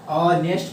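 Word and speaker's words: honest: अब इसका उच्चारण होता है बाबू, एच को साइलेंट किया जाता है, ऑनेस्ट पढ़ा जाता है, ठीक है।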